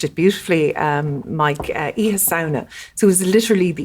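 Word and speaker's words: Oíche Shamhna: And Halloween originated, you pronounced it beautifully, Mike, Iha Sauna.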